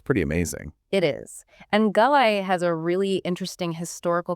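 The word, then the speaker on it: Galați: sounds intriguing which city is this this is galai It's pronounced galat and it's right on the border with Ukraine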